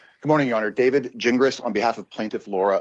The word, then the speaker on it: Gingras: And to give you a little phonetic help with my last name, it's pronounced gin like you drink and grass like you mow. Gingras.